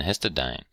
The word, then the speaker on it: histidine: INE, these all have INE on the end, but they're actually pronounced different. This is lysine, and this is arginine and histidine.